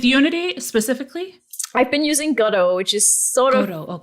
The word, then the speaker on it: Godot: I've been using Godot, which is sort of like Unity. How do you spell that? It's like waiting for Godot.